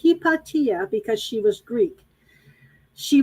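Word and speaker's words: Hypatia: two pages from ptolemy's hepatia her name is pronounced hipatia because she was greek she was she was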